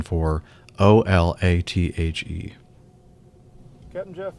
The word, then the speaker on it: Olathe: Olathe. And while I'm talking about pronunciation, now, if you haven't been listening for